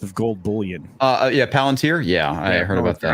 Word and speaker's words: Palantir: interesting thing from uh two days ago uh planeteer just bought 50 million dollars worth of gold bullion uh yeah palantir yeah i heard about that i mispronounced that